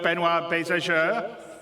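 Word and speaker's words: Benoit Beausejour: And without me waffling on, I'd like to bring CIG's CTO, Benoit Bézageur.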